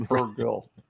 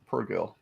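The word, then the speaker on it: Purrgil: Pronounced Purgil. Purgil.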